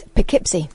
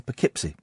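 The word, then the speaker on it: Poughkeepsie: Katherine is typing it phonetically on my screen. Just say it. Go on. What is it? It's Pikipsy. Is it Pipsy? Is it really? Did not know that. Okay. Pipsy.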